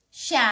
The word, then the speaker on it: siya: First one, let's say Ang Ang Ang Ang Next, let's say Ng Ng Ng Mga Mga (pronounced ma-nga) Ma nga Mga Siya (pronounced sha) Siya Siya At (and) last one, let's say Nga Nga Ngayon Nga yon yon Ngayon Say that again.